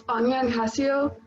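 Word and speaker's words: 안녕하세요: It's Anyanhaseo, and then that's like that's what you would say to somebody like in like face to face.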